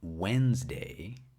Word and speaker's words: Wednesday: has the title why Wednesday isn't pronounced the way it's spelled and uh the we'll start with paragraph one most Americans don't pronounce the first D in Wednesday but there it is